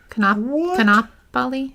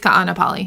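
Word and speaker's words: Kaʻanapali: Kanapali? Oh, shoot. That might be the one. How do you say it? What did I call it? Kapua. Ka'anapali. Ka'anapali. Oh, yeah, there's 2 A's. Yep. Ka'anapali.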